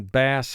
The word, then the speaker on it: bass: group one here and the a is representing its long sound but the word bass